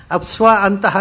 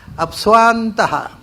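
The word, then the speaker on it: ಅಪ್ಸ್ವಾಂತಃ: ಅಪ್ಸ್ವ ಅಂತಹ ಅಂತ ಅದರ ಉಚ್ಚಾರ ಅಲ್ಲ. ಅದನ್ನು ಈ ಪಾಠ ಹೇಳಿಕೊಡೋರು ತಪ್ಪಾಗಿ ಇವರು ಹೊಡೆದಿದ್ದಾರೆ, ನಿಮಗೂ ತಪ್ಪಾಗಿ ಅಪ್ಸ್ವ ಅಂತ ಸಾಮುದ್ರೆ ಅಂತ ಹೇಳಿಕೊಡ್ತಾರೆ ಎಲ್ಲರೂ ಹಾಗೆ ಹೇಳ್ತಾರೆ. ಅದು ಅಪ್ಸ್ವ ಅಂತಹ ಅಲ್ಲ, ಅಪ್ಸ್ವಾಂತಹ.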